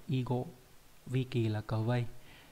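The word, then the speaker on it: 囲碁: Và trong từ đặc biệt nó đọc là igo, vi kỳ là cờ vây.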